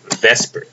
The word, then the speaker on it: VSEPR: electron pair repulsion theory vesper is how we pronounce it so the book wants